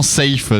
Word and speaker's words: Safe: C'est que, effectivement, Safe, c'est un mot anglophone et lui veut s'appeler DJ Saf, mais ça s'écrit exactement pareil.